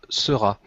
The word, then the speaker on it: Seurat: Georges Seurat.